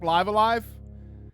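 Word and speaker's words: Live A Live: I started playing Live Alive. I think I'm just not in the mood to play it. Oh, I'm sorry. It's pronounced Stone. It's pronounced Live-A-Live.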